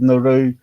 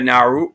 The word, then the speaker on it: Nauru: The Pacific Islands of Nauru, Cook Islands, and Paulu have the highest rates of obesity.